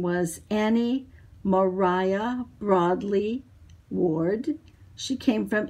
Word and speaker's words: Maria: my mother my great-grandmother whose name was annie mariah broadly ward she came from england and it was mariah even though it looks like it's spelled maria this is taken in my grandparents